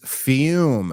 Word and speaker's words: Fum: show which of course is fume pronounced fume but spelled Fu M flavored air isn't like